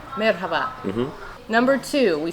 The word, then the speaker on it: merhaba: should you know uh pronounce the h a little louder Marhaba merhaba mhm number two we